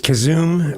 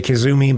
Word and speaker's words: Kazoom: Uh it's Kazoom. A lot of people say kazumi, but it's kazoom.